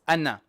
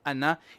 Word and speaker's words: أنا: Okay, this word is anna. It is written with an alif, but the alif is not pronounced.